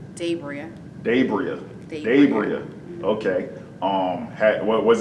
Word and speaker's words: DaBriah: you say your name what is the correct pronunciation of your name gabriel dabria gabriel okay um had was it mispronounced a lot growing up yes debris um dabria um my teacher depachi i don't